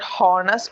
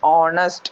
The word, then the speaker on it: honest: No, it is not hornest. It is honest. Honest. There H is silent.